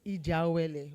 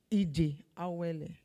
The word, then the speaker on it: Ijeawele: MC, we need to teach you how to pronounce our name well. It's Ijeawele. Where is he? Ijeawele.